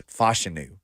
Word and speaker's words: Fashanu: easy but he said they always get my last name wrong but it's fashanu oh fashanu fashanu see